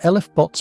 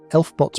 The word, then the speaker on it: LFBOT: Pronounced el-ef-bots by some, elf-bots by others, and simply referred to as fast blue transients by those who find acronyms exhausting.